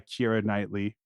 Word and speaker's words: Keira Knightley: eor yeah yeah um marri's Juliet played by Kira nightly that's how you pronounce her name that is and Mark is